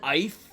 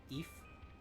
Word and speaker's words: Aoife: Hey, Steve said Ife? some- That's a fun one to see people pronounce. I have no idea how you pronounce that. Eve? Eve. A-O-I-F-E. Ethan. Ethan? Eve.